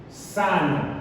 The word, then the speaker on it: sano: Bien, el acento se vuelve prosódico, pero sabemos que la sílaba tónica es sa, no. Sa, no.